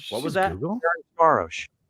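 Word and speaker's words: Ferencváros: Ferenc Varos. Ferencvaros. Yeah. None of you motherfuckers said it right, including me. Yeah, Google's not gonna say it right.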